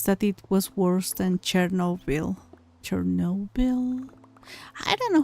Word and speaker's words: Chernobyl: Chernobyl. Yeah, that one. I think the end is pronounced like Noble.